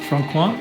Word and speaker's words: Franquin: So this is from Franquin. Franquin. So people that are not too familiar with the name, it's spelt Franquin.